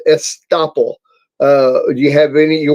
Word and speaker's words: estoppel: Estoppel. Did you hear that? I heard it, but I didn't discern it. Here we go. Estoppel. Estoppel.